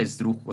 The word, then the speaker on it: esdrújula: Incluso hasta la palabra esdrújula, o sea, el tipo de palabra se acentúa porque esdrújula está en una, dos, tres, cuatro sílabas. Y se hace la fuerza en la antepenúltima, en la dru.